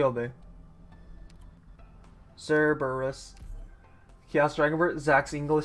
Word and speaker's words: Cerberus: yeah I I was I said it wrong I said Cerebus it's Cerberus yeah Koby putting in words